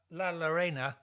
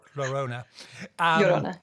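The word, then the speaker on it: La Llorona: but there's uh but la lorena no say it wrong totally wrong lorona know who i'm talking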